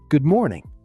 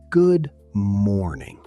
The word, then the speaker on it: good morning: Good morning. Say it with me. Good morning. The stress is on more. Not good morning.